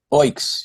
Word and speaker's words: Oiks: Okay, firstly, how do you pronounce the new album? Is it Oiks? Oiks, yeah.